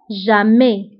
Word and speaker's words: jamais: Toujours, دائما هي toujours, ضدها أبدا أو jamais. Jamais. Donc toujours, ضدها jamais. Toujours, دائما, jamais, أبدا. ونتبهوا بالنسبة toujours ou jamais, فكنكتبوهم بS آخر الكلمة ولكنها لا تنطق. Toujours, jamais. مشكل هو un problème.